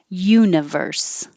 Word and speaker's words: universe: they're bright yellow daffodil universe you have to start with your tongue in the y position universe universal the stress